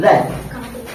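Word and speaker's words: wrath: गुस्सा कह सकते हैं, रैथ। और हम जानेंगे एक चीज कि अगर किसी भी डब्ल्यू वर्ड के बाद आर आता है तो ये जो डब्ल्यू वर्ड होता है क्या होता है? साइलेंट होता है।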